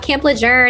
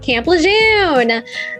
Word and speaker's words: Lejeune: about camp lejour and for also teaching me the correct way to spell it I mean pronounce it because when Laura and I met before we recorded this I was like let's talk about Camp leun so we're all like